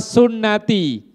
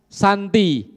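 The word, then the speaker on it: سنتي: ini nikah itu adalah sunati ya sunati tulisannya tahu ya jangan salah baca kalau baca salah ini bahaya ini sunati itu kalau enggak ada harakatnya orang yang bacanya ngawur-ngawur bisa dibaca Santi jadi annikahu Santi nikah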